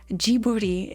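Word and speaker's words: Ghibli: jibli wife JBL gibli it's just jiburi in Japanese that's why I didn't say it right jibuti JY I also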